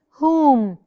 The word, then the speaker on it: whom: H W silence rules if the W is followed by an H the W is silent love is whom whom whom I don't